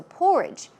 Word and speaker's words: porridge: few days right so porridge porridge stress goes on the first syllable and some other words